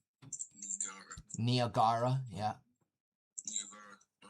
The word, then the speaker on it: Niagara: Oh yeah, Niagara. That's the correct pronunciation. Niagara, yeah.